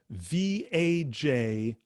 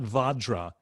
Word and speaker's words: vajra: okay om vadra spelled v-a-j-r-a r v-a-j-r-a okay but the a's are not pronounced like a or a or even ah it's not vadra it's vajra it's more like a uh in in english okay next word has